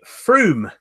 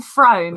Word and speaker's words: Frome: Yeah, this time next week we will be at the Froome Ukulele Festival. Okay. Froome, but it's spelt Frome. Frome. I kept saying Frome, and I got told.